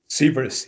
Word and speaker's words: Sivers: Sivers, yeah.